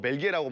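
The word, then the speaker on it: België: 그래서 수도가 어디냐라고 물어봐가지고 저 브뤼셀이라고 했더니 벨지크 라고 해가지고 이제 그게 이제 불어 발음으로 벨기에라고 말하면 벨지크고 네덜란드로 하면 벨기에인 건데 오.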